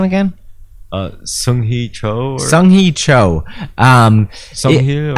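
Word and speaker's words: Seung-Hui Cho: You know, there's a huge, you know, Sui Hui Cho. Say his name again. Sung Hee Cho.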